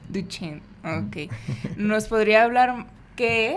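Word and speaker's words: Duchenne: una duda Cómo es distrofia muscular y la pronunciación cóm es duchen duchen Okay nos podría hablar Qué es de Qué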